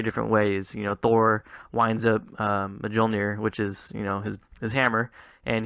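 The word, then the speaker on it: Mjölnir: Thor winds up Mjolnir, which is his hammer, and he throws it. Really, you pronounced the J? I thought it was silent.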